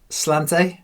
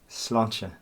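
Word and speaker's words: sláinte: always enjoy your whiskey slant slanta slancha apparently I've been saying it wrong all these weeks you saying it wrong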